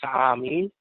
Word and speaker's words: Sa'ami: These beings said that is their home planet, and they call that planet the Sa'ami, 3 syllables.